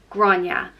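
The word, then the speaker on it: Gráinne: goddess is grunya and is pronounced Gras ya granya and granya is known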